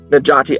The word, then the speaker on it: Necati: to introduce our speaker najati al khan and you'll note that the c there in his first name is pronounced like a j that's the standard pronunciation